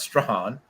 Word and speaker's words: Strahan: next season michael strahan and it is pronounced stran uh who is a